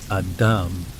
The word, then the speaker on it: ADM: he explained to me edman REM pronounced Adam and REM considering your placement in